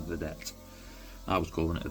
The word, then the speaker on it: Vedette: I'm sure it's pronounced Vedette. I was calling it a Vendetta.